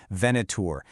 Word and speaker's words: Venator: They're bringing in specialized partners, and a really key one is a company called Venator, and that's pronounced Venator.